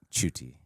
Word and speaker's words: Ncuti: last name is the easy part it's it's chuty sounds way easier to me say well it's when you look at it it's spelled ncuti so it's for americ don't throw